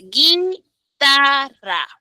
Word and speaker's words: guitarra: Porque tú pronuncias guitarra. Guitarra, solo suena la I.